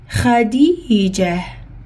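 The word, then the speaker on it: خديجة: Comme il y a ta marbota à la fin, et on va arrêter, on met ça veut dire que comme quoi ça s'écrit comme ça. Ça veut dire que je prononce ha.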